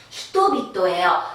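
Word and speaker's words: 人々: 사람은 히토니까 뒤에 히토가 나왔는데 원래 일본어가 단어 플러스 단어가 되면서 연타금이 잘 일어난다고 했어요. 그래서 타금이 일어났습니다. 히토비토예요.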